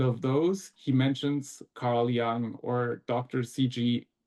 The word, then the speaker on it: Jung: CG Yung as he but here he was he was Swiss German. So I think he would say his name is in German they would say Ti Yung or Kusty.